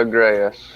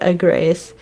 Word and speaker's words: Agreus: the whole Ezra, Imogen, I can never remember how to pronounce his name, but it is Mr. Agreus. Yeah, Agreus.